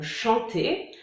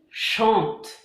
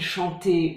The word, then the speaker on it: chantent: Si on prend le verbe chanter, alors on va dire il chante et pas il chantait ou il chantant ou je sais pas quoi. on dit il chante. On ne prononce pas le ENT. On l'écrit, mais on ne le prononce pas.